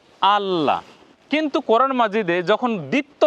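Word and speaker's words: الله: বুঝি আলাদা আলাদা করে তাহলে উচ্চারণ এভাবে করতে হবে যে স্বরে ওয় এর উপরে অর্থাৎ আলিফের উপরে জবর আকার আ তার সাথে জজম আছে লামে ল ধরবো লামের একক ল দে উচ্চারণ হবে আল তারপরে ল এ আকার লা উচ্চারণ কেমন হবে আল্লাহ কিন্তু কোরআন মাজিদে যখন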